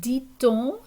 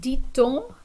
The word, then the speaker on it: dit: So the T at the end of dit is normally silent, but when it's followed by a word that begins with a vowel, we're going to pronounce that T. So, comment dit-on the homework en français? And that person might tell me, on dit les devoirs. So we notice now the T is silent in dit, right?